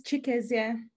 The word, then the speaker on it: Chikezie: Next up, we have Yoanna Pepper, and you have to bear with me on pronouncing your surname. Chikezie, is that Chikezie or Chikezie? It's Chikezie.